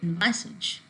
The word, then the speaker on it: envisage: And the first two words in consider and envisage, the stress is coming on the second syllable, whereas in the verbs